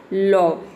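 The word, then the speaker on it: law: ए डब्ल्यू का हो जाएगा आपका ओ, इस तरह से ये क्या हो जाएगा, लॉ, इसका प्रोनाउंसिएशन हो जाएगा लॉ।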